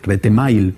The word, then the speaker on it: Retemail: Retemail, pronunciado en correcto castellano.